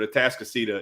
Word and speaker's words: Atascocita: I've heard it said many different ways, but Atascocita is how you pronounce where Cam Dewberry's from.